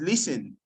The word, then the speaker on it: listen: The T in listen is silent. It's not listening, it's listen.